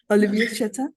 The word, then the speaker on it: Olivier Chatain: And I'm not sure if I can pronounce this correct, but it's Olivier. Olivier Chatain.